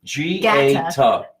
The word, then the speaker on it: Gaeta: You want me to write it phonetically? No. Look at my phonetics. Gaeta.